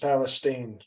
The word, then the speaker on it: Palestine: just um you visited East Palestine Ohio it's pronounced Palestine okay um they don't